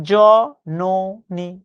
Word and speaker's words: জননী: জননী এটা বানান। আমি যখন উচ্চারণ করছি উচ্চারণ কি? জন ননি।